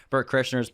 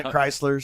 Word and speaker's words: Bert Kreischer: That people always mispronounce his name, so they call him like Brent Chrysler or Burnt Krishna.